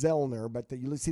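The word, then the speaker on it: Zoellner: know sounds right right you don't pronounce the O so it's vilner but that you will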